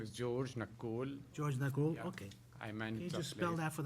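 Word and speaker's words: Nakhoul: right And your name My name is George Nakul George Nag Okay I meant Can you spell that for the record please Sir N A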